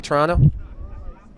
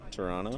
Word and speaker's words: Toronto: How do you say Toronto? Toronto. Toronto? Toronto. It's Toronto. Toronto. Oh, we say Can't drop Toronto. our T's. Toronto. It's honestly, everyone does it. Really? Yes, we don't pronounce that last T.